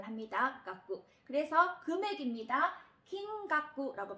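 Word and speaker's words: きんがく: 긴깍구라고 발음을 합니다.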